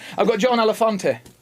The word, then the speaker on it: Elefante: All right, I've got John Elefante. Have I pronounced that right, or is it more Italiano? No, you got it right. Elefante. It is Italiano.